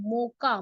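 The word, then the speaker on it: Mocha: Cyclone मोका, देखो मैं spelling लिख रही हूँ, मोका, मोका कॉफी का नाम ही है, ठीक है, मोचा मत पढ़ना, मोका ही है।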